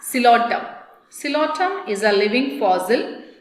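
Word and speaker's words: Psilotum: Coelotum. P silent. How to pronounce? Coelotum.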